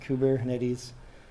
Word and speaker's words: Kubernetes: containers across multiple clusters of servers and it's pronounced kubernetes some sort of ship and I guess another